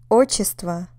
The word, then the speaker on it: отчество: How about отчество? Отчество, patronymic, on the first syllable.